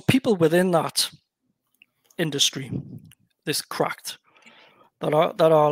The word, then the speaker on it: CRKD: Yeah, so it's obviously it's pronounced Cracked.